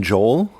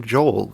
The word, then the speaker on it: Joel: Joel is his name is it Joel Jo Joel like uh Noel no I think it's Joel Billy Joel I think he didn't want two syllables so he just kept it Joel I would spell it